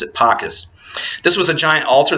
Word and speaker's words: Ara Pacis: Also, there's a monument that was located near Augustus's mausoleum, which was called the Ara Pacis. It looks like it's sometimes pronounced in Italian Ara Pacis, but I pronounce it Pacis.